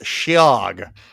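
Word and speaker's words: Sidheoghe: thank you for including the pronunciation in the uh in the parenthesis shi which is spelled sidhog. S I d h e o g h e the that's the Gaelic spelling.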